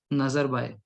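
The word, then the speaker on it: Nazarbayev: नूर सुल्तान नजरबाय, ठीक है, वी जो है ये साइलेंट है।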